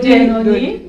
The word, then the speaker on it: Genoni: La sœur essaie de prononcer avec l'accent italien. Oui, vous faites bien. Genoni, d'accord.